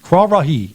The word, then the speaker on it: Kwarahi: Kwarahi is how you pronounce it.